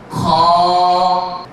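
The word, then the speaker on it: خ: গলার কথা আপনাদেরকে বলেছিলাম হলকের শেষ ভাগ থেকে উপরের অংশ থেকে মানে গলার উপরের অংশ থেকে কন্ঠ মানে উপরের অংশ থেকে এই হরফটি উচ্চারণ করা হবে আমি উচ্চারণ করছি আপনারা সবাই লক্ষ্য করুন এবং আওয়াজগত উচ্চারণগত এটা মোটা হবে খ খ আমি আপনাদেরকে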